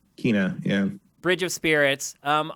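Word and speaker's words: Kena: then next up from the state of play kenna actually we now know it's called you pronounce it kina kina yeah bridge of spirits um i learned through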